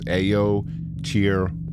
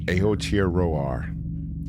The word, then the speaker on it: Aotearoa: So she says, yes, you also butchered Aotearoa, but she actually pronounces it. It's Aotearoa. Aotearoa.